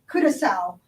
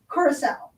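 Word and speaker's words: curaçao: there's another blue curacao and it is correctly pronounced curacao even it is spelled like kudakau it is curacao and this is one that is even better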